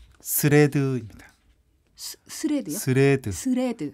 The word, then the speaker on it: 스레드: 스레드요? 스레드. 스레드. 스레- 발음이 스레바 아니고요. 아, 슈레드? 치즈도 아니고요. 아, 예.